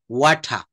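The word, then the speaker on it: water: আমরা ওয়াটার বলি না, এটা শেষের রটা, ব্রিটিশ উচ্চারণে কিন্তু এই রটা সাইলেন্ট থাকে। ওয়াঠা, ওয়াঠা, ওয়াঠা।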